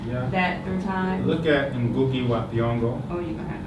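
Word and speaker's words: Ngũgĩ wa Thiong'o: Look at Ngugi wa Thiong'o. Oh, you're going to have to spell that for me.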